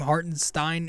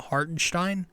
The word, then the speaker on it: Hartenstein: I think it's they they change the way they pronounce this kid's name hearten Stein is now hartenstein exactly uh he was